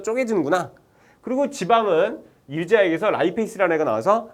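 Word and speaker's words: lipase: 분해하는 효소라고 그래서 페이스라고 리파제 이렇게 했었어요 차에는 리 리파라 했었는데 이걸 영어로 라이 페이스라고 읽거든요 예 그래서 옛날에 리파 아재라고 아시는 분이 있고 라이 페이스라고 요번에 바뀌었어요 그니까 라이 페이스로 갑시다 라이 페이스가 나와요 라이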